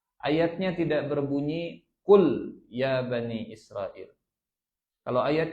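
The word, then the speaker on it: قل: Mereka yang tahu artinya jika Anda menggunakan a*kaf* " makan." Jadi jika Anda salah membacanya, Anda akan salah menafsirkannya. Qul, qul ya ayyuhal kafirun. Makanlah, hai orang-orang kafir. Maknanya berbeda. Qul artinya katakan.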